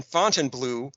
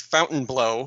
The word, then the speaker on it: Fontainebleau: This episode takes place in Fontainebleau, which, as you pointed out, they all weirdly pronounce Fontainebleau.